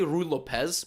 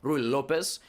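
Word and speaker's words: Ruy Lopez: the uh the ru i always say rue lopez that's not how you say it rui lopez he always allowed the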